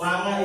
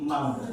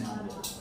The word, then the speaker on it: manga: Ternyata that we call manga is actually manga. It should be pronounced manga.